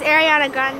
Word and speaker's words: Ariana Grande: Oh, and tell Rachel and Sam what music singer's in town, but I got her name wrong. Oh, she called it like Ariana or something like that. But it's Ariana Grande and apparently so she's in town.